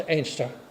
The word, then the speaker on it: Anstruther: George Darcy, living in Anstruther, well, pronounced Ainster, Johnson Lodge.